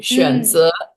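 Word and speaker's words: 选择: I'd like to give the example of the word 选择. That's a third tone and then a second tone. 嗯选择.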